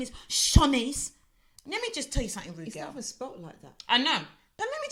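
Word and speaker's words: Siannise: her name correctly she hates it when people call her Shanice is Shaunie's so he got her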